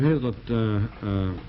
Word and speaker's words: Hazlitt: Hazlitt, that's pronounced Hazlitt, right? That's right.